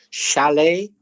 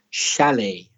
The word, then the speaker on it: chalet: words chef champagne Chalet words like that are tricky for Spanish speakers because that CH is sure it's not the same as cha like chat it's a different sound it's Shh like she or shall chef champagne Chalet numbers